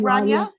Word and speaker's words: Rania: here rania hi um are we saying it right rania yes you said it really perfect and you can call